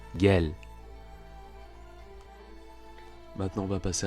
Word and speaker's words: gel: Le G qui se prononce g, comme dans l'exemple suivant avec l'impératif du verbe venir en turc, c'est gelmek, donc ce sera gel, viens, gel.